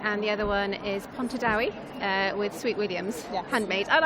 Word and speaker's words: Pontardawe: One is in Cardiff with Lark Design Make, and the other one is Pontardawe with Sweet Williams, handmade.